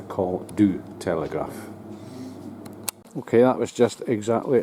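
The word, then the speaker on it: Col du Télégraphe: the call here the call to the te Telegraph or should I say it correctly the call do Telegraph okay that was just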